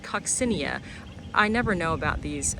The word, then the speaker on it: coccinea: And then this is uh Salvia I've been calling it coccinea but I heard somebody else call it coccinia.